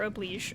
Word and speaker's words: Oblige: I mean, if I had like Noblesse Oblige on her, or Oblige, sorry, I know it's pronounced Oblige.